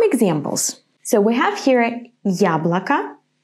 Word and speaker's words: яблоко: So in the word яблоко, I pronounce it strong. Ya. To pronounce it like this, you have to say first the sound y, and then ya, ya. It's like the beginning of the English word yummy, ya.